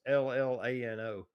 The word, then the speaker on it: Llano: I think I'm pronouncing that right. It's Llano.